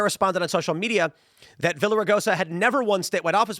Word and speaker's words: Villaraigosa: Meanwhile, LA Mayor uh Villa Villaraigosa, is that how you pronounce it? Villaraigosa?